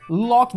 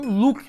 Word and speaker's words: Loki: ver mais pra frente, ao invés dos caras falarem Loki, que é a pronúncia em português, mas não, eles falavam Luke, que é a pronúncia em inglês.